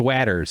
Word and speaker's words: Watters: It's Waters is how you pronounce it if there's two T's.